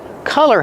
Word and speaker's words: color: Use the sound ah. The open sound ah like hot and stop. C- collar. Don't be confused with color. Color has the short uh sound like cup and up.